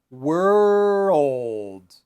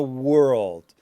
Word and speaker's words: world: and back, and then you roll your tongue. So, back, world, or girl. That might help. So, if you try to say this sentence, yeah, the most beautiful girl in the world. We are the champions of the world. So, if you know that song, you want to say we are the champions of the world. We are the champions of the word.